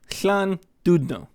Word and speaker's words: Llandudno: So this team is pronounced Llandundo. Llandudno. So everything past the double L's is there, but having the like TH sound for the L.